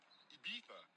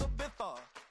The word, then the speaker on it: Ibiza: Ibiza, Ibiza. Yeah, it's pronounced Ibiza, actually.